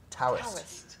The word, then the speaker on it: Taoist: that's what you get when you spell something with a t and you want people to pronounce it with a d absolutely those crazy Chinese